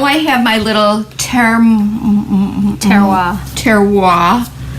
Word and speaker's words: terroir: everything right now so the French word for soil in reference to grapevines and wine making pronounced terroir that would be nicer